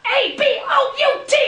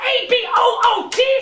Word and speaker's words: about: It's about A-B-O-U-T, not A-B-O-O-T! Stop saying a boot! This is a boot! That is about.